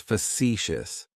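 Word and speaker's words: facetious: That first syllable has that schwah, that uh sound. Facicitious. Facicious.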